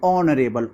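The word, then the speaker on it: honorable: देखिए ये एच से शुरू हो रहा है लेकिन एच साइलेंट होता है तो यहां हम लोग इसको उच्चारित करने पर कैसा ध्वनि निकल रही है ऑनरेबल ओ से निकल रहा है तो यहां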